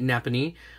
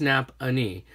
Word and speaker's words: Nappanee: we went to see I was calling it Nappanee but apparently it's nap Annie sounds like the same